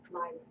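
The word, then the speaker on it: Laiv: Live. It's L-A-I-V, but it's pronounced live.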